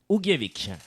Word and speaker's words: Ugljevik: Alors, ça se dit Ugljevik. Ugljevik, voilà, super.